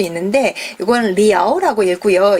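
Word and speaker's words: 寮: 그래서 샤지 요것을 이제 고르는 그런 문제였고 또 하나 B가 이게 여러분한테는 자 말고 뒤에 글자가 좀 어려울 수 있는데 이건 리아오라고 읽고요.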